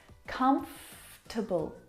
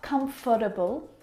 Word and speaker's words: comfortable: don't need to pronounce come to bull not comfortable or comfortable but come to bull come to bull we skip that vowel sound comfortable you look